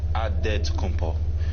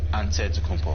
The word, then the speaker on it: Antetokounmpo: how you pronounce it the nigerian way you gotta say with the d so it's a dead compo but in the greek way you say with the nt like antetokounmpo whatever you got just